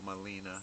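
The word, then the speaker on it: Gmelina: know how to spell Molina it spells it m o l i n a which is wrong it's GM e l and of course the g is silent so it's parrot be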